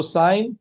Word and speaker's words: sine: So the trigonometric functions which we will use today are sine. In short, it is written as sine. How do you pronounce it? Please pronounce it as sine, okay?